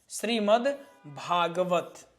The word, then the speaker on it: श्रीमद् भागवत: परंतु उच्चारण भा का पूरा हो रहा है। द का उच्चारण नहीं हो रहा।